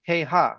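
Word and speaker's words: כהה: So since it's written with the hey, we should read it as keha, which means weak.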